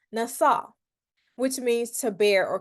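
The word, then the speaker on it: נָשָׂא: strong concordance it is H 5,375 and it's pronounced NASA which means to bear or carry the prefix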